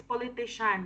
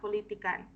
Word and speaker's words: politician: the pronunciation come is politician, okay? It's politician, not politican.